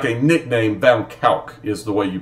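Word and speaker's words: van Kuijk: Van Kalk is the way you pronounce the last name.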